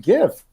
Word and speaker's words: GIF: He said it was GIF. He told us it's pronounced GIF.